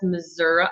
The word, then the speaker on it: Missouri: Daisy says, hi from Northwest Missouri.